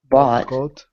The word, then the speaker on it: bought: buy good um yeah so we have bot we have boat you have boot boot yes different sounds almost kind of similar right but that's good